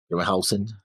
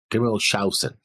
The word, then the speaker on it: Grimmelshausen: You're missing the S in his name. Grimmelhausen? No, you're not pronouncing the S. Grimmelshausen.